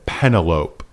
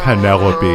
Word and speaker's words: Penelope: Odyssey and you know she in her most teenaged voice said penalope instead of penelope pedaloupe is what that's happened to be.